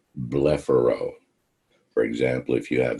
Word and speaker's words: blepharo: medical term that refers to the eyelids it's pronounced blepharo for example if you have the condition of